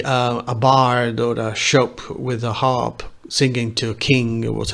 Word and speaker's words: scop: see the words rappers scops scopes it's how it is written but the right pronunciation is shop or shop we will see that